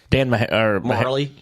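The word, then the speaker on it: Majerle: Marley.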